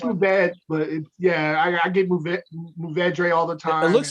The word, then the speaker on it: Mourvèdre: Mavudre. That one. Mourvèdre, yeah.